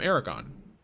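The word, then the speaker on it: Eragon: From Aragon. Uh spelled with an E. E R A G O N. like like dragon the knee.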